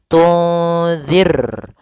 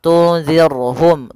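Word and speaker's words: تنذرهم: Kemudian pada lafal zir di sini ada huruf ro yang sukun didahului dengan kasrah. Maka ini kita namakan dengan ro tarqi. Ro yang tipis dalam pelafalannya. Jangan dibaca tunzir. Maaf tunzirhum. Tunzirhum. Ahah. Ini tebal rnya harusnya tipis. Tunzir ar. Ya. Kalau ar itu tebal. Ir ir tipis.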